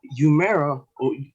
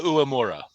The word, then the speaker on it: Uemura: We got Kenny King taking on Yuya Umera. Umera? I'm really bad at pronouncing these names, but Yuya Uemura.